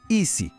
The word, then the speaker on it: ici: Sa prononciation est très courte et directe. Écoutez bien : « E se ».